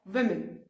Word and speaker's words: women: सो be very particular about your pronunciation. The dresses of वुमेन, है ना.